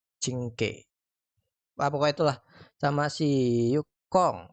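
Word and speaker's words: Qingque: Oke, di bannernya si Locha, Alisoto, itu Pelak, King C ya, cara bacanya tuh Cingke.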